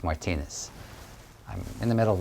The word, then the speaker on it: Martinez: to meet you um my last name by the way is pronounced Martinez I'm in the middle